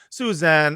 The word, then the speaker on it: Susan: This is Badass Bar, the world's most moral podcast, here with our guest, Suzanne Abulhawa. There we go. Abulhawa. I always start freaking out when I have to pronounce a name.